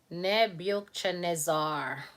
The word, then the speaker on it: Nebuchadnezzar: who was king after Nebuchadnezzar that's how it's pronounced membership Nebuchadnezzar NE buchadnezzar that's the easy way to pronounce it Nebuchadnezzar Monique is saying